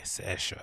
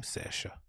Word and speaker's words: Saoirse: Okay, Saoirse. Is that her name? Saoirse. Saoirse. Okay, cool. So this DJ called Saoirse had recently a residency at Phonox, right?